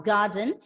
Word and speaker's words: garden: Garden, as a consonant sound comes after the letter R goes silent. So you have to pronounce the word as garden, garden.